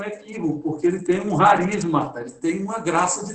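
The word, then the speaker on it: χάρις: Haris é graça. Alguns chamam de caris, mas na pronúncia grega mesmo é haris.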